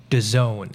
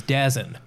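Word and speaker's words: DAZN: now it's spelled Daz n what it's actually pronounced 'da zone I thought it was dead stop it just stop it what I first thought it was dasn't but it's actually disowned like you're into zone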